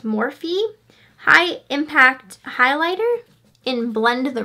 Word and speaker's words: Morphe: this brand before um I always want to call it morphe but i think it's pronounced morphe high-impact highlighter and blend